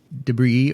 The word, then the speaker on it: debris: So the song after that is Ronnie Lane's Debris or Debris or Debris. He says Debris. He said Debris. And I think that's the British pronunciation for the word.